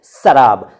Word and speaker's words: सराब: देखिए, जब हम शराब बोलते हैं तो हम बोलते हैं शराब, शराब, श। और जब हम सराब बोलते हैं तो हम इस तरह करते हैं सराब।